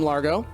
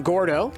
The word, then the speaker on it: Gordo: also see there's the boom Largo Largo I didn't see I'm saying it wrong boom Gordo over there so that's